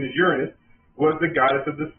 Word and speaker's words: Uranus: Uranus, or Uranus, I apologize, that's the correct pronunciation, is Uranus, was the goddess of the sky.